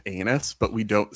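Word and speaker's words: Enus: And it is pronounced anus, but we don't say Oh, that's right.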